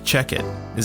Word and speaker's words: Checkett: And you are Checkett. That is how you pronounce it, right?